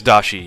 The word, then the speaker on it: dashi: Is it dashi or what is it? Because I'm gonna say it wrong every single time, unless I know what it is. Yeah, it is dashi.